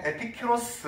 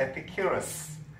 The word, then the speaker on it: Epicurus: 우리는 보통 에피큐로스 뭐 그렇게 한국식으로는 그렇게 말하는데 영어로는 에피큐러스 그렇게 발음합니다.